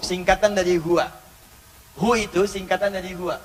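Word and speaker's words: هو: Karena kalau kita waqaf dalam bacaan huwa, wa-nya nggak dibaca. Bacanya hu. Contoh, Quran surah kedua, ayat 255, ayat kursi. Allahu la ilaha illa huwal hayyul qayyum. Berhenti di huwa. Allahu la ilaha illa hu. Hu, wa-nya nggak bunyi.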